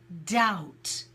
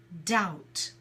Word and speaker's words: doubt: is spelt do you be T and we pronounce it doubt so we have the word is the B is not is silent so it's doubt good and someone just wrote down the word